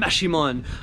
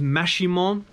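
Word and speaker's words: Maximón: I'm going to find a guy named Maximon, otherwise known as Saint Simon, and he lives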